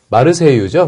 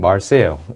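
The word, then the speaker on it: Marseille: 또 나왔던 내용 중에 마르세유죠, 마르세유. 예. 그런데 영어로 발음하면은 마르세요. 예, 마르세요. 이 되고요. 마르세유라는 건 아마 이제 불어 발음으로 했을 때 이거 하고 굉장히 가깝게 될 것 같고요.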